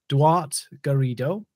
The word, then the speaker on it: Duarte Garrido: a special guest with me today i have dwart garrido and hopefully i won't get in trouble for